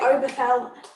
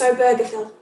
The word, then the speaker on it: Obergefell: a birther film and people wanting to say overflow i did look up how to pronounce it it's obergefell so john arthur and obergefell